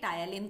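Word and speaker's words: ptyalin: इसको हम प्रोनाउंस करेंगे टायलिन।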